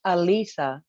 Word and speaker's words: Alisa: Do I pronounce it Alicia or Alisa? It's Alisa.